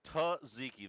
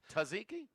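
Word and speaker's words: tzatziki: Tziki. The first Z is silent. Taziki. Tuzziki.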